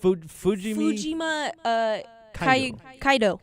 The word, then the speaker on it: Fujimi Kaido: Fujima... Kaido.